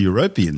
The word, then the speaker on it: European: ridges it's possible the European seaf Flor and yes that's how you say it may host volcanoes which